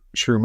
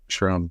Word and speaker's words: Schrum: Dylan Schrum, or Shroom. I think it's Schrum. It's right.